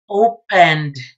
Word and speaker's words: opened: And that's why the past tense of open is going to sound as D. Opened. Not opened, no, opened. Just the N and then you pronounce D.